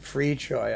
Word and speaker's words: Fricsay: That's how you pronounce it, Fricsay.